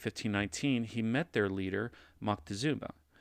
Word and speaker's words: Moctezuma: met their leader maktizuma now you may also hear this or see this word spelled with an or this name spelled with an n and pronounced as montezuma either however uh are acceptable when referring to to the empire since there is some disagreement in the transliteration of his name now montezuma had long